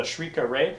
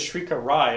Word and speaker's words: Shrika Ray: I know it looks like it says Shrika Rai, especially you anime watchers, but in the comic it says it rhymes with away, so it's got to be Ray.